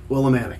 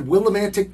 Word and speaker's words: Willimantic: It's not Willimantic. It's spelled with a T at the end. That's Willimantic. Right.